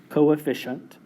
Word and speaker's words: coefficient: a crazy-looking word coefficient this is pronounced Co a fish hunt coefficient coefficient Co say shunt coefficient so basically if you're